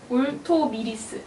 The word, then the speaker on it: 울토미리스: 울토미리스. 예, 울토미리스. 네. 죄송합니다. 이게 발음이 너무 힘들더라고요.